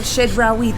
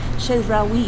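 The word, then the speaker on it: Chedraui: I asked her in the comments, and she said, you pronounce it Shedrawi, and I said, oh, it sounds very French.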